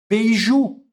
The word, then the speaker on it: beiju: É o beiju, certo? Como ele termina em u, a tônica fica na última sílaba.